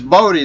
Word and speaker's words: Bodhi: how to pronounce it in his bode that's how you pronounce it right okay awesome awesome is